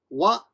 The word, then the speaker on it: は: Now, if you're learning hiragana, you might think, wait a minute, that's ha, isn't it? Yes, it is, but when it is the topic marker of a sentence, it has a grammatical function, and it is pronounced wa, not ha.